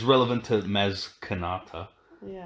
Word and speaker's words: Maz Kanata: No, this is just it's relevant to Maz Kanata. Yeah. Or Maz Katana, as everyone kept mispronouncing when it came out.